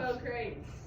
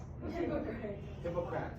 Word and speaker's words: Hippocrates: Hippocrates. Hippocrates.